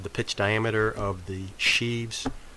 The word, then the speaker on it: sheaves: It says the pitch length of a belt is the length of the pitch diameter of the sheaves or shivs, if you prefer to pronounce it that way.